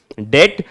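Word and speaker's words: debt: का मतलब क्या है यहां पर लिखा तो है डीबीटी क्या इसे डिप्ड पढेंगे नहीं यहां पर भी हमारा क्या है बी हमारा साइलेंट है तो इसे सिंपली हम क्या पढेंगे डेट सो अगर कोई भी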